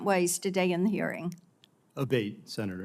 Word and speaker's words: Abate: We've heard it pronounced 3 different ways today in the hearing. Abate, Senator. Abate, okay.